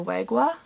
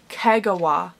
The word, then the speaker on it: Kagawa: iron king by julia wagua i think i'm pronouncing her last name correctly no oh that was a fail julia kagawa iron king by julia